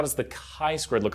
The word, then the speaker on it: chi: the chi squared look a lot people say chai squared but it's actually kinda draw it right here and so let's write it first it's spelled CH I button or it's not chai its Chi square so Chi square test